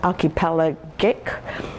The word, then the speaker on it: archipelagic: this archipelagic new york i think it's pronouncing the word wrong it's archipelagic but in any case i